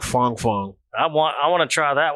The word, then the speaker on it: Fang: Fang. I think it's supposed to be pronounced like Fong Fong.